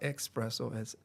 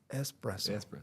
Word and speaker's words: espresso: an espresso machine and let me say it correctly because my wife always corrects me. It's not espresso espresso and she always catches me on that but my kids wanted something warm and hot, right?